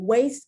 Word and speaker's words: waist: particular sound because you you only pronounce the a and you pronounce it like the long a you do not pronounce the i so you can see for example waist can be pronounced w-a-i-s-t